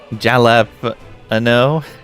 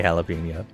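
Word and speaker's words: jalapeño: If I'm not uh pronouncing pronunciation policing unless it's someone saying jalapo and then I'm uh saying something. That is a very strange way to say jalapeno.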